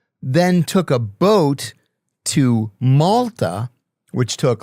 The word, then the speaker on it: Malta: took a boat to Malta, which took like a week, right? Back in those days. Which is obviously a side up cuz it rhymes with the Yalta.